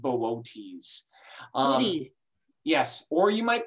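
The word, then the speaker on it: Boötes: and arcturus is in this constellation it's called bootes yes or you might pronounce it booties um which is a lot of fun to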